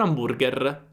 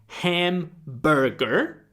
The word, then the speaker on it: hamburger: Quindi hamburger diventa am perché la l'Hc è silente in italiano.